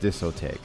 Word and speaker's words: Discotek: Oh, last time it's pronounced Discotech.